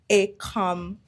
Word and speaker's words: Ecom: I've had so many people butcher the way they say my name, but it's so easy. Two syllabus. Ecom.